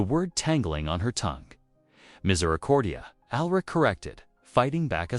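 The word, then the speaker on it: misericordia: Their lesson was punctuated by laughter as Greta wrestled with particularly challenging Latin pronunciations. Miss Accordia, she attempted the word tangling on her tongue. Miserordia, Alrich corrected, fighting back a smile.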